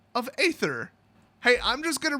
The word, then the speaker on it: aether: lazy, easy way out, I'm going to continue to pronounce it aether. I mean, they wrote it, I pronounce it as written.